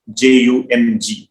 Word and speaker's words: Jung: Carl Gustav Jung, as you call him, CARL GUSTAV JUNG. JUNG is the spelling, but the J is silent.